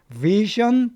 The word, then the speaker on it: vision: 있다는 겁니다 그 외에도 vision problems 자 이는요 발음을 잘하셔야 됩니다 전이 아니에요 션 약간 션에 가까워요 션 이렇게 그니까 실력이죠 시력 그니까